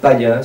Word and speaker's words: Payns: C'est un seigneur de Champagne qui s'appelle Hugues de Payns, ça s'écrit P-A-Y-N-S, on peut dire Payens aussi, ça dépend des prononciations, qui avec son beau-frère